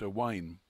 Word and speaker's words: Y Waun: near the Welsh English border and Welsh is pronounced a wine the name Chuck itself is apparently comes from